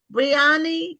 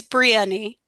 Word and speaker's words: Brieni: Um, see, do you do you pronounce your name Briani? Is that how it's pronounced? It's Brieni.